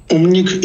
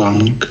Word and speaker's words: Um_nik: Umnik is the correct pronunciation, but I respond to Amnik.